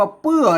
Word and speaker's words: เปื้อ: อัน นี้ หรอก อ่า ไม่ ใช่ อ่าน ว่า เพื่อ นะ ครับ อ่าน ว่า เปื้อ เหมือน กัน นะ อ่าน ตัว ปะ เหมือน กัน อ่าน เป็น ปอ เหมือน กัน ปึ เปื้อ นะ ครับ